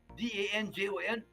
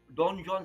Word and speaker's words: Danjon: But I think it's a French, so the pronunciation is DANJON, Don John scale.